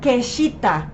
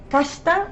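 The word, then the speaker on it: kashita: shita no se pronuncia quesita o shita decimos el el I casi no se pronuncia no entonces decimos kashta o kta y finalmente tenemos el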